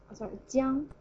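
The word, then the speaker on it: 酱: So the upper part, alright, it's a little different, but this character is pronounced as 将. Jiang, jiang. As you can tell, we borrow the pronunciation from this upper part, 江.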